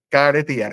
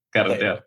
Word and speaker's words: carretear: Caretear. Esa yo no puedo hacer un doble. Ah, okay. Carretear.